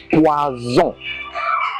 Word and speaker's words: poison: But if it is one S, it is poison. Poison. It is pronounced as Z.